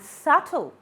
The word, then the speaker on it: subtle: The next silent letter is W in answer, rap, right, and wrong. B, incline, comb, doubt, and subtle.